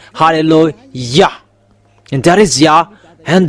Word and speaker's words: hallelujah: to glorify that it means to glorify that halleluah there is no one was saying hallelujah you Good rank fans there people are saying it becomes hallelujah even in your bible saying halleluah and that is yah and the real name